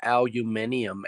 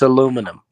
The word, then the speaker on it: aluminium: Yeah, I was just going to say just don't call it a aluminium age. Yeah, it's aluminum.